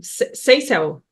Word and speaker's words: Seisel: Seisel.